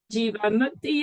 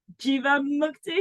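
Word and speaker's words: Jivamukti: Tell me more about Jiva Mukti. Is that how you say it? You got it right. Yeah, pretty much. It says Jiva like diva, and then Mukti like no other word.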